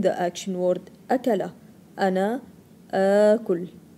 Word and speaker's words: آكل: two as together, and you will pronounce it as two sounds of a, as in the action word أكلة. أنا آكل. آكل.